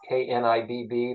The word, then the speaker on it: Knibb: We're just going to start the conversation with Knibb. It's Knibb. The K is silent.